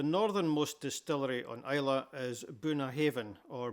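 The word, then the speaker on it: Bunnahabhain: The northernmost distillery on Islay is Bunnahaven or Bunnahaven. This means mouth of the river. This BH together in Gaelic is pronounced as a V sound.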